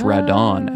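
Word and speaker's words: ラドン: I think in Japanese it's Radon. Actually, the A and the O are switched.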